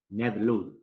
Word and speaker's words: Ned Ludd: movimiento en contra, estaría el dirigente obrero inglés Ned Ludd. Se escribe Ned, N-E-D.